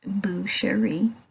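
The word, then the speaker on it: boucherie: Butcher and make food from a pig it's pronounced bueri and it derives from the old French language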